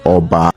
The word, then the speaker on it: Oba: Oba as a title has been mispronounced by so many